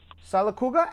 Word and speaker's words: Sylacauga: Beatrice in Sylacauga, Alabama. Did I pronounce that right? Sylacauga, Alabama? Yep.